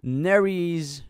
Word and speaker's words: Nery: This is Sean Oquendo from the Philippines, also from the Philippines, covering Arthur Nery's, pronounced Nery, hit Filipino single called Pagsamo.